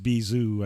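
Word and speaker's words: B'z: B apostrophe z um but it's pronounced bizo I think in Japan but they're like one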